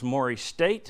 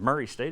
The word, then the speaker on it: Murray State: Morrie state of Murray State if you say it right and then Saturday at